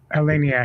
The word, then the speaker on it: Eleniak: Tommy Lee Jones, and Gary Busey, and Erika Eleniak. How do you say her name? Erika Eleniak. Erika Eleniak.